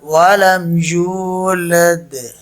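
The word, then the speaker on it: وَلَمْ يُولَدْ: So correct word, walam yulad. Walam yulad. That echo sound at the end is qalqala.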